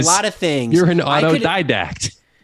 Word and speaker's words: autodidact: One, what I learned is that Matt didn't pronounce it autodidact.